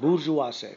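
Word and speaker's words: bourgeois: weird word weird spelling and equally idiotic outlandish pronunciation bujas middle class middle class usually this word bujas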